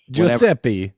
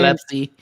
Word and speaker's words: Gillespie: Taylor, you have destroyed my brain with your pronunciation of Colin Giuseppe. I keep saying, Gillespie.